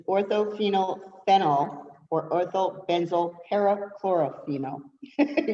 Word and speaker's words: orthophenylphenol: pronounce it and i'm going to have to spell it for you okay it's orthophenylphenol or ortho benzoyl perichlorophenol are you ready for